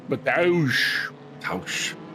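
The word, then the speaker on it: Mateusz: You can't just call a guy Matthew. It has to be Mataush. Mataush Gamrot.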